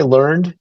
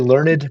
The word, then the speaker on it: learned: call when you can say learned is a two-syllable word yeah I was gonna say if it's got two syllables you're pretty smart yes right so we're we're we are fairly learned people God his writing